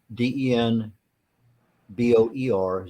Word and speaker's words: den Boer: bear b-e-a-r at asu.edu and so denmore Den Boer did I pronounce that right yeah it is like Borgo